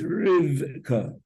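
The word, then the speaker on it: רִבְקָה: Everybody says Rivka, but it's Rivka.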